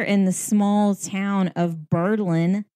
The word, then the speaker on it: Berlin: And it was named after Berlin, Germany. Pronunciation is not the same.